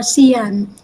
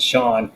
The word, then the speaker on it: Sean: Sean Williams, I always call him before Cian. Then I learned that. But it's called, you pronounce it Sean.